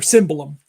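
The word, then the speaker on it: cimbalom: are always playing the cimbalum. So, or cymbalum. I got to say it right. Cymbalum. Cymbalum. I'm thinking Italian. It's Hungarian. So, all right, and look it up.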